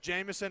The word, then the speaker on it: Jamison: But back to my point, my name has been pronounced so many times. It's Jamison.